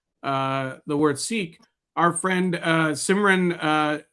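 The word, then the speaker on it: Sikh: For those wondering, the correct pronunciation of the word sik is with a short I and an aspirated K, just the way you are describing it. Sounds most like the English word sik.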